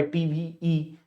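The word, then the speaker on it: TVE: ये जो लिखा हुआ है टीवीई, इसको बोलते हैं टीवी, ईवी के तरह ही प्रोनाउंसिएशन है इसका, टीवी ग्लोबल सस्टेनेबिलिटी अवार्ड्स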